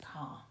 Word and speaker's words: Kerr: Now I thought her name was pronounced Judith Kerr, but I found out recently it's actually a German name and it's pronounced Kerr.